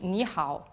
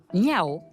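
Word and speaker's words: 你好: Ni hao, avec le H, il faut bien le dire. Si on ne prononce pas le H, ça veut dire autre chose, ils ne vont pas comprendre. Effectivement, sans le H, niao veut dire faire pipi.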